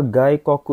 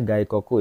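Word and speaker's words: 外国: Watiwa Gikoku ini bacanya Gaikoku ya Minasang ya.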